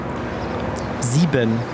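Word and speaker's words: sieben: just marketing how do you say seven again zeben zeben zeben zeben all right lucky number seven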